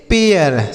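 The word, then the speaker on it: pair: मात्रा हर से र इसे पे नहीं पढ़ेंगे। देखिए क्या पढ़ेंगे? पी से पढ़ेंगे प ए आई का उच्चारण ए होगा। क्या होगा? ए आर से र लिखा पेयर। इसे हम पढ़ेंगे पेयर।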